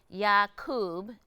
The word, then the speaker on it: Yakub: Okay, so today you are going to perform a song for us called Yakub.